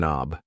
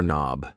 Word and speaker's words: knob: This thing here is a doorork knob. A door knob. Yes, the K in knob is silent.